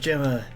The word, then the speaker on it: Gemma: that's a good question it's spelled gamma but who knows there's a Gemma and tons of anarchy when I thought about similarly let me look me it's Chicago yeah it's pronounced Gemma darn it yeah you're